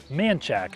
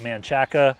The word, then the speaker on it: Manchaca: Now, if you're not from around here, you look at it, you might pronounce it Manchaca. You better sound like a local or people are gonna look at you crazy.